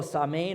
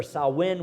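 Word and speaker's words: Samhain: who have gone before there was also samain or sawin was the another pronunciation of it it was as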